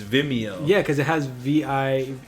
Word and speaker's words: Vimeo: as I I'm bigger they will pronounce it like video but it's vimeo yeah cuz it has